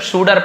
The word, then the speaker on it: suitor: suitor है ना, ऐसे लिखा हुआ है, suitor टाइप दिख रहा है, पर suitor पढ़ते हैं, ऐसे ड जैसे उच्चारण है।